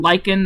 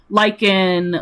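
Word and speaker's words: Lichen: And by the way, uh his name Lykan's name is spelled L I C H E N. Lykan like the freaking uh glow lykan from Minecraft or like real life Lykan.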